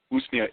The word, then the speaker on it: Usnea: How do you spell that? Yeah, Usnea, Usnea.